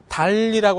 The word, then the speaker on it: 단리: 달리라고 하는 것을 계산할 때는요, 달리라고 하는 걸 계산할 때는 이 만 원을 여기다 넣지 않고 100만 원에 대해서 또 1만 원만 이자가 생기는 걸 요걸 우리가 단리라고 얘기합니다. 달리 이렇게 발음하죠.